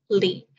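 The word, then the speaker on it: 礼: propriety or virtual etiquette pronounced as Lee in Chinese there's really you could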